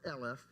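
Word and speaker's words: אלף: still spelled the same as Alf but it's pronounced LF and it so Alf the letter Alf can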